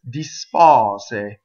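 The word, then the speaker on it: dispose: Dispɔse. Notice that I'm hissing those S's, and it doesn't matter. It's nice. It's crisp. Dispɔse.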